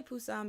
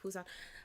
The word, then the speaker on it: Busan: Kenneth said some say Busan because I forget how to pronounce that, but that letter is supposed to be a P.